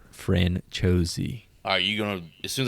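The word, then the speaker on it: Franciosi: Ashling Franchosi. Are you gonna... As soon as I say her name anytime during this thing, just say it right behind me. I'm gonna correct you. Ashling Franchosi.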